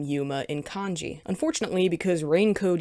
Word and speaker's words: Yuma: either girls or boys in the Japanese language it's frequently written and pronounced with a long vowel sound but when it's transliterated